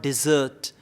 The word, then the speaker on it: dessert: was some pronunciation mistakes like desert desert is the body of sand right it's the dish is called dessert sweet dish is called